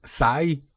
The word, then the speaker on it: Cai: Apenas me acabo de dar cuenta que la letra C en chino se pronuncia como S. Y yo todo el la competición le he dicho Kai y no es Kai, es Sai, o sea, se llama Sai Shengu.